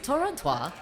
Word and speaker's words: Torontrois: I'll say it properly this time. Torontrois.